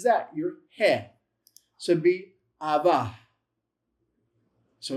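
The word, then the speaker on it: אבא: So, how do you pronounce that? Aba. Aba.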